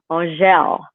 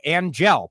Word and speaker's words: Angelle: Because it's actually pronounced, it's French. It's French for angel, and it's pronounced Angelle.